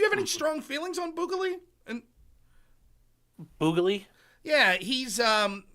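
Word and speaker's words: Bukele: like do you have any strong feelings on boal and boal yeah he's um uh El Salvador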